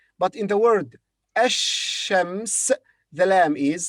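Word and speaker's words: الشمس: the lamb is pronounced but in the word ashems the lamb is silent the next word iraq and arabic would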